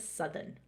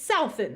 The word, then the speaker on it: Southern: I always want to say Southern, Southern. South. It's Southern though, right? So my grandparents are from England, and the pronunciation is Southern.